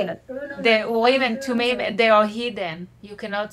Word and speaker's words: Urim and Thummim: The Urim and Thummim, they are hidden.